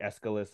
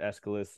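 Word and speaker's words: Aeschylus: yeah you could quote I think escalus I think you pronounce it escalus in the in the Greek you know and that's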